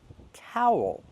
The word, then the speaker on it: towel: Pronunciation, towel towel Make the ow sound, plus the dark L, towel.